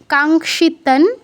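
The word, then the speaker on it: কাঙ্ক্ষিতং: 2 number লাইনে কাঙ্ক্ষিতান, অনুসারের পর ন আছে, ন হচ্ছে ত বর্গের অন্তর্ভুক্ত। ত থ দ ধ ন, এই 5টা মিলে এক ত বর্গ। তো এই ত বর্গের 5 নম্বর অক্ষর হচ্ছে দন্তন্য। তাই অনুসারের জায়গায় দন্তন্য হসন্ত হাফ উচ্চারণ করতে হবে, তন উচ্চারণ করতে হবে।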